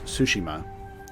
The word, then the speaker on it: Tsushima: of seizures that Tsushima its Tsushima like sushi ma ma okay i'ma try paying